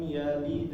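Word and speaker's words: يلد: Kalau misalnya dia berhenti di lam yalid, baru itu kedengaran ya. Lam yalid. Nah, sedikit ditahan ya ketika masuk ke huruf tersebut.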